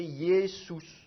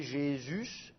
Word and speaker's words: Jésus: ça il faudrait prononcer yesous mais évidemment la prononciation française ça devient J et le U il est prononcé U et pas ou donc ça fait Jésus et puis d'ailleurs on